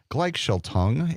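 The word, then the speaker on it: Gleichschaltung: a thing I may I'm hoping to pronounce this correctly it's it's called gelong it's a German pronunciation a German word meaning synchronization and Steve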